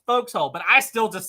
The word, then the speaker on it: forecastle: and everything they're referring to this but it's pronounced folks hole but I still just say Forecastle but yeah there's all kinds of this weird